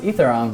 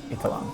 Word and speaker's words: Eitharong: I'm Eitharong, or Eitharong, depending on how you want to pronounce it. So growing up, it was always Eitharong, but really it's Eitharong.